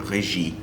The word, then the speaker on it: Regis: regis was actually french so he probably wouldn't have pronounced it regis he probably would have said reggie but you know what we'll just say regis because i'm doing it today and we figure that